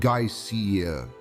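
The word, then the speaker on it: geysir: Mạch nước phun, một từ mà người Iceland phát âm là geysiiir, biểu thị sự giận dữ, nổi lên một cách uy nghiêm từ đỉnh của nó.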